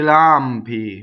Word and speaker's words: lampi: I lampi, notice 1L, right? Weak monosyllable.